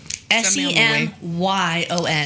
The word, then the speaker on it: Semyon: Semyon, almost like Simon. It's like their version of Simon.